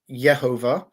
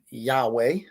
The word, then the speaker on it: Yehovah: evidence that uh shows why I believe that this is yehovah rather than Yahweh um and what I